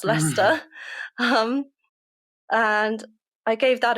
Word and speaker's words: Leicester: a school in leicester which is not lyster it is pronounced leicester um and i gave